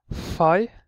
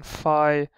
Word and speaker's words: Fai: letter we have is fi uh this one is is fi it just pronounced as an F just a simple F uh looks like a